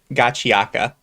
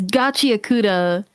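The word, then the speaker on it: Gachiakuta: Because there's a K in there, so I don't know how we ended up with Gachiaka. Yeah. Unless the K is silent. I think they're trying to do the whole like Japanese pronunciation, but the thing is that like you gotta actually like pronounce it like the Japanese. You can't just do the whole like kind of like kind of like the valley type accent to it. It's Gachi Akuta, and you could say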